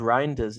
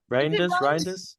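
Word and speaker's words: Reijnders: I think it's pronounced Reinders. Is it Reinders?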